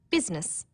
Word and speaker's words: business: the awkward outh words business people don't pronounce the I business sometimes Miss occur